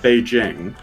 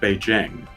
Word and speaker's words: Beijing: And so the written form of Beijing, which in Chinese was always pronounced Beijing, in Wade Giles was Peking, which if you knew how to read it, was read as Beijing.